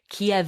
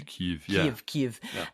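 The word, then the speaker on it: Kyiv: Ukraine's historic Capital City pronounced Kev in Russian but more like KV in um Ukrainian KV um and I I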